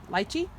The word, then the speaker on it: lychee: new editions these are light key or lychee depends on how you want to pronounce it they were supposed to